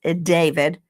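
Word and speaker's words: d4vd: It looks like D4 VD. It's David.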